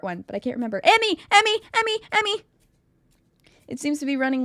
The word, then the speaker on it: Emi: Emy, not Amy. Well, no, because Emy. I'm trying to think of the Japanese pronunciation. It's Emy. Okay.